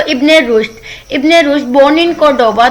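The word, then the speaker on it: Córdoba: और बेसिकली ये word कोर्डोबा है, मतलब बी के साथ प्रोनाउंस होता है, वी की जगह पे बी होता है, लेकिन जब हम इसको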